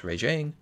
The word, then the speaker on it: Rajang: So about one more week, we're going to be picking up a fight against Raging Brachydios and Furious Rajang.